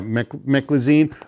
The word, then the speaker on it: Meclizine: Let me make sure I'm pronouncing it right. Yeah, Meclizine, which the brand name is Bonine, which is